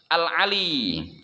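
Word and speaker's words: العالي: Al-Ali, ya. Nah, Allah yang maha luhur. Bitakhfifil ya'i dibacanya dengan sukun ya, nggak pakai diharokatin.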